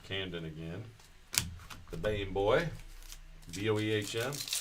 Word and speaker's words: Boehm: Boehm, pronounced the same as my very Americanized last name, Bame.